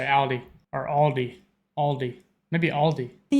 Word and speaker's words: Aldi: Say Aldi, or they also sometimes add an S that isn't there in the end. See, that's what I'm talking about. And say Aldi's. In Germany, we just say Aldi.